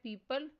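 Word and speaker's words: people: Next word है पीपल। इसमें silent letter ओ पर सर्कल करना है।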